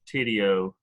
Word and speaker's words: Tidio: It was we used Tidio, but that's how you pronounce it.